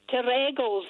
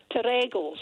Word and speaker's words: Terregles: It's Terregles. The emphasis on the second syllable. Terregles. Terregles.